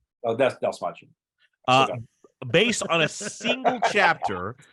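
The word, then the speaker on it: Dastmalchian: How do you pronounce his last name? David Dalmachian. Oh, that's Dalmachian.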